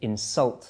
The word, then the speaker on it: insult: giving the insult okay you insult somebody so the stress there is on the second syllable let's look at another